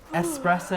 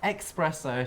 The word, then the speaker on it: espresso: coffee that's the fascinating fact yeah people who pronounced shots of espresso as expresso should be shot yes okay at the end